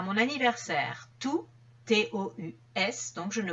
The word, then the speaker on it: tous: ces le démonstratif exemple tous les jours je fais une heure de sport donc tous les jours je ne prononce pas le S tous mes amis vont